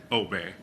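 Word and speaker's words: Åberg: I'm sorry and um in Swedish there's a little circle above my a so that makes it pronounce elbow I know it's a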